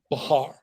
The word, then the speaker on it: Bahar: No, Bahar, not two syllables. But look, just Bahar.